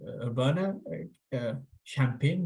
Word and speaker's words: Urbana-Champaign: He's an instructor and faculty member in communications at the University of Illinois in Urbana-Champaign. Did I pronounce that correctly?